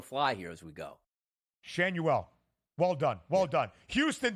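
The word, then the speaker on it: Schanuel: tonight and I think Nolan shuel I believe is the correct pronunciation on this one I bet him a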